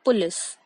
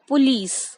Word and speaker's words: police: काफी लोग कहते हैं पुलिस बट हमें लीज पर स्ट्रेस देना है तो इसकी करेक्ट प्रोनाउंसिएशन है पुलिस.